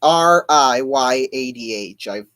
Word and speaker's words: Riyadh: I don't know how to pronounce that. It's Riyadh.